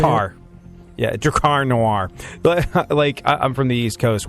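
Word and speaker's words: Drakkar Noir: rising cost of Camaros, Bon Jovi tickets, and Dracar Noir. Dracar Noir. Dracar Noir. That's how you say it? Yeah, Dracar Noir.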